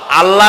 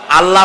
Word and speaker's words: আল্লাহ: বিশ্বাস আল্লাহর নাম আল্লাহ বলেন তো আল্লাহ নয় কিন্তু আল্লাহ হচ্ছে অশুদ্ধ শুদ্ধ হচ্ছে আল্লাহ বলার সময় মুখটা গোল হয়ে যাবে বলেন তো সবাই উচ্চারণ